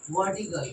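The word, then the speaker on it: vertical: वर्टिकल वर्टिकल है ना थोड़ा सा आर नहीं बोले तो वर्टिकल भी बोल सकते वर्टिकल लिए ठीक है कोई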